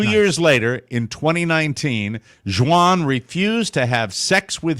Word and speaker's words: Xuan: It's spelled Xuan. I believe that's Juan, right?